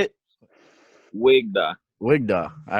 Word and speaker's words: WeGDaw: da wig da how do you say it wig da wig da all right yeah so significant significance